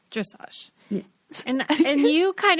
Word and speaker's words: dressage: you corrected me when I mispronounced dressage or whatever like dressage because I'd only ever read it and you were like dressage yeah and and you